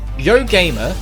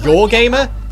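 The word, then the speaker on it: Yoh Gamer: i read that right yo gamer that's her name and in japan it's pronounced your gamer that's hilarious yes nevertheless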